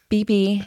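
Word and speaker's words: bebe: tight-fitted you know clothes that I think it's pronounced BB it's not beef it's BB get it right okay yeah no I remember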